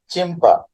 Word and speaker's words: Schimper: यस जो है silence है, इसका प्रोनाउंसिएशन चिम्पर, चिम्पर, साइंटिस्ट का नाम चिम्पर, यस इसमें साइलेंस है।